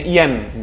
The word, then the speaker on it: ian: selanjutnya adalah Iam jadi ini bacanya Ian jadi a-nya dijadikan e pengucapan a ini diucapkan e jadi Yen contohnya selanjutnya ada in